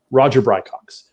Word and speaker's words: Roger Brycox: But the pronunciation of his name is actually Roger Brycox.